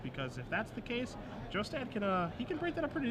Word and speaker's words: Jostad: Last name is pronounced Jostad, in case you are wondering.